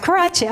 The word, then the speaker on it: Karadsheh: Karadsheh, okay.